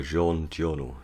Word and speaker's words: Jean Giono: talking about the man who planted trees by jean giorno that's how you pronounce the name french author um so i